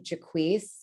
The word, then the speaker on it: Jacquis: if time allows uh so again first name jaquise uh i spell it j-a-c-q-u-i-s uh fun fact a couple of